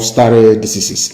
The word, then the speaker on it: stare decisis: It is called stare decisis. It means, I will spell it for you.